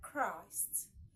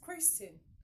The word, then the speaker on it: Christ: Okay, we can still meet this K in words like Christ, Christ, Christ, Christ, Christian, Christian, Christ.